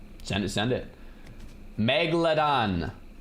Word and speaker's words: megalodon: Megalodon. There's no mega. It's not mega. Megalodon. Cuz I was saying mega and everyone.